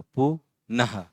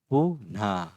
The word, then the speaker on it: पुनः: अब इसमें जो ह वाला प्रोनाउंसिएशन जो है, उसको बहुत आपको फोर्स नहीं करना है ना। ह वाला जो प्रोनाउंसिएशन है उसको बहुत ज़्यादा फोर्स नहीं करना है। जिस तरह से ह बोलने के बाद जिस तरह से हवा की आवाज़ आती है, ह, इस तरह से ही बस प्रोनाउंसिएशन करना है। पूरी तरह से ह वो होता नहीं है, ये आपको ध्यान में रखना है। तो ये बहुत इंपॉर्टेंट है